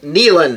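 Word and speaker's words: Neyland: stadium so it's nean I used to say it's Nan Stadium till somebody told me it was nean stadium so I you know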